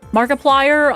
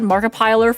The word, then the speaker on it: Markiplier: I think um Marip Markiplier. I said Maripiler for a long time.